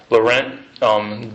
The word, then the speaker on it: Laurent: Is that how you pronounce it? Yes. Okay. Laurent.